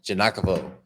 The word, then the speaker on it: Giagnochavo: guys today on the podcast I have janakovo did I do that right you did man